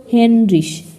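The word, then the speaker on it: Heinrich: এর ই সে হাহা এখানে আমরা শেষে পড়েছিলাম ঋষ বা রিক এটা একটু আগেও পড়েছিলাম আর উপরে প্রথম প্রথম ওয়ার্ড গুলো হবে হেনরিশ হেন এর সাথে ঋষ বা রিক যুক্ত হবে হেনরিশ তারপর আছে ইতে দেওয়া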